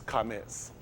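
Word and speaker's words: Qamets: This is Kametz. Kametz, this is what I told y'all, Q-A-M-E-T-S, Kametz. You hear that at the end? He'll put a Z. Kametz, because that's how he phonetically do stuff.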